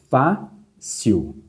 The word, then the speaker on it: fácil: A sílaba mais forte, fácil, fácil. De fato, a sílaba mais forte é essa aqui. Qual que é a posição dela? Sil é a última, fá é a penúltima.